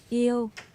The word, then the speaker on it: yêu: Yêu. Eo.